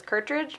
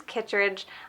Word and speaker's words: Kitridge: this is kitridge and I know that I said I was pronouncing it wrong and that it was curridge but it turns out that my label is actually wrong and that the Polish is kitridge I just have a